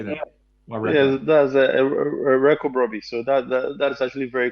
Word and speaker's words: Wireko-Brobby: that's a Wireko-Brobby.